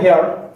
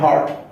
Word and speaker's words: heard: সো অনেকে বলে হেয়ার, এটা ভুল উচ্চারণ, এটা উচ্চারণ হবে হার্ট।